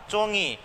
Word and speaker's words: चोंगी: फिर से वर्ड आया एक चोंगी, देखो ये चो है और इसके आगे नुक्ता है तो ङ का उच्चारण हो जाएगा और ये वर्ड क्या बन जाएगा, चोंगी, अर्थात कूटने का, जो